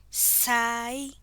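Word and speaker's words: cai: Next is letter C, pronounced as S. Example, Sai, which means tea.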